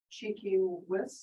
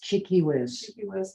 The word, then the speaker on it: Tchi-Kis-Wis: that digested yeah can you repeat how to pronounce her name cheeky whis cheeky whiz yeah um i know this has been done